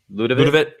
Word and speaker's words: Ľudovít: How do you pronounce that? Ľudovít.